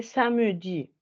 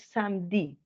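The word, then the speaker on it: samedi: se escribe samj listo hay gente que dice samji hay hay gente y eso es válido listo es una variante pero realmente como ellos lo pronuncian es samdi nadie dice Sami o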